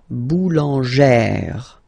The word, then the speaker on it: boulangère: Okay, so boulanger, boulanger, and then feminine form, boulangère, boulangère. Same thing, don't insist too much on the final E, boulangère.